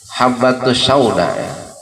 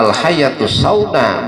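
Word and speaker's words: الحبة السوداء: Habbatus sauda. Habbatus sauda. Ya habbatus sauda. Ya obat. Itu adalah obat dari segala penyakit. Ya. Jadi kitab hadis begitu. Lah dia bacanya faqara'aha al-hayatus sauda, bacanya hayat bukan habba.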